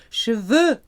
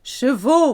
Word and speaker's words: cheveux: For example, you have beautiful hair, vous avez de beaux cheveux. Not chevaux, because chevaux are horses.